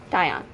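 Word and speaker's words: Daion: That' be spelled like this. D A I O N. Dion.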